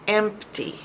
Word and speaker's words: empty: um e um and make sure you pronounce that P and empty or you're not going to know empty has a p if you say empty